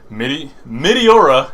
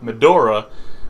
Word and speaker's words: Meteora: Meteora, I'm actually saying it right this time because I kept calling Meteora Medora, which is Meteora's Boku no, Medora is Toriko.